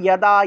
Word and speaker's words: যদা: মনে করেন যে যদা যদাহি ধর্মস্য, যে যদা যদাহি যে ধর্মস্যটা আছে আমরা বাংলা ভাষায় যদা যদাহি ধর্মস্য উচ্চারণ করি, কিন্তু সংস্কৃত ভাষায় এটা উচ্চারণ হবে ইয়াদা ইয়াদাহি, ইয়াদা উচ্চারণ করে ইয়া উচ্চারণ করা হয়।